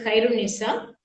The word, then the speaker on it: Khyrunnisa: all right yeah yeah so my name is hiro nisa it's a little difficult to pronounce in fact manali was i think practicing